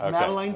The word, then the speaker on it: Madeline: Is it, I'm pronouncing it correction, Madeline Farms? You're right, it's Madeline Farms.